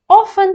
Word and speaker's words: often: Often можно произносить как often, но я советую опускать вот эту T, потому что так написано в словарях.